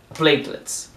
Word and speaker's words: platelets: A gente fala plaquetas, mas aqui é platelets. O stress está no pla, no play.